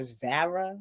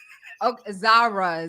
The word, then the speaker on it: Zara: marshall TJ Maxx girl how you say it like that zarra cuz it's a z no are you not Zara Zara Zara Zara I